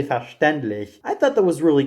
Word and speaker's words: verständlich: up everything by saying "verstandlich," which I found so funny because of how he managed to pronounce that particular German word when it's actually verständlich.